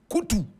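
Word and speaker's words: Koutou: he wasn't born wabu he was born bukari koutu and bukari is spelled b o u k a r y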